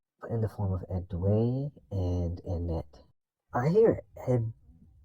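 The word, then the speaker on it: Édouard: It's a girl and a boy named well, it's spelled Edward, but I thought it was Edway. If it was Edward, then okay, but it sounds like Edway when I hear it in the show.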